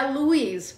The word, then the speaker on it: Louise: Olha, eu pronunciei certo seu nome, eu falei Luiz? É Luiz, mas não... é um nome francês, mas também bem americano.